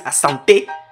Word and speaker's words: Asante: His name is Asante. That's how you pronounce it.